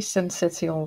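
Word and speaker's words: syncytial: you say that second word uh it's respiratory sensitional virus sensitive virus okay um and i guess we have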